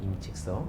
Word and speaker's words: 임칙서: 임칙서. 우리가 이제 20세기 전 중국 사람들은 이제 한자를 그대로 발음해주고 20세기 이후부터는 중국식으로 발음해줘요. 아, 네. 왜 그런지 모르겠어요. 하여튼 그렇게 학계에서 합의가 된 사안이라고 저도 임칙서라고 부르겠는데 이제 마약인 아편이 큰